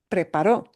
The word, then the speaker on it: preparó: But preparó. Preparó is one person, past, over with, done. Okay? That, what syllable to give the emphasis is important.